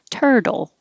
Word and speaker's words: turtle: think of turtle now the t e r tur and the t before the l yeah it sounds like a d turtle dirty the t changes